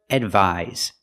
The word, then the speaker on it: advise: The first word, advise. The second word, advice. So pronunciation. The first word with the S has the Z sound like zebra.